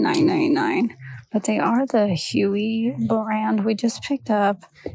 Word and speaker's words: Hooey: But definitely be on your lookout for Huey brand. It's spelled Hooey.